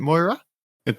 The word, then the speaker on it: Moirai: Is it Moira? It's not Moira. Oh my god. It just Moirai.